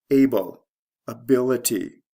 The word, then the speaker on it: ability: across adjective or verb able ability the stress shift is from the first to second syllable and there's a spelling change from l e to Il before adding the ity able ability stable stability